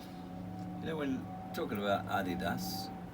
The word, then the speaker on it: Adidas: You know, when talking about Adidas, in the UK we pronounce it Adidas. The rest of the world is kind of like Adidas. Yeah. But apparently I it's say Adidas. German. It's a German company, Adidas, and it was named after.